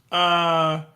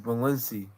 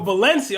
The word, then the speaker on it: Balenci: Balinic. It's pronounced Balenci. Oh, Balenci.